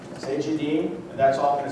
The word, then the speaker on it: Cegedim: It's really difficult to pronounce. Cegedim, and that's all I'm going to say about it.